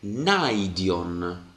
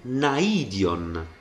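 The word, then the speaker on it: ναΐον: questo fosse un dittongo se il primo fosse un dittongo Io dovrei leggere naion perché l'accento appunto cade su Alfa anche se si scrive su su yota in realtà io ho letto naion perché perché qui c'è una dieresi dieresi che mi dice che yota non forma un dittongo con Alfa e quindi l'accento che cade su yota si sente su yota proprio perché non è un dittongo quindi la dieresi generalmente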